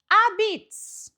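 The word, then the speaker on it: apizza: New Haven style pizza, or as we pronounce it here, a-beetz.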